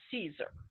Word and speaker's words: Caesar: Well, all the Latin was being pronounced with a soft C, right? So like Julius Caesar, right?